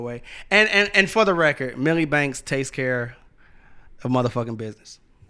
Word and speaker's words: Milli Banks: Milli Banks, you said it right.